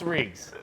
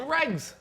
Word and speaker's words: Riggs: Gaz calls him Regs. Riggs. Gaz is going Riggs. Gaz like, what's Barstool Riggs doing? Nobody here pronounces anybody's name right.